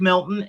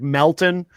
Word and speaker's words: Melton: And and Melton Joe Joe can't even say his name right. His his name is actually Patrick Melton.